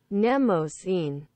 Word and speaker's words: Mnemosyne: I think I just like her because I'm proud that I can sort of pronounce her name properly. Mnemosyne.